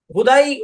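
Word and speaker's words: who: থাকলে তো আমি বলতাম ভাই মানে সিম্পল জিনিসকে হোদাই ওই বনি ইসরাইলের মত হ্যাঁ কোশ্চেন করে পেঁচাবেন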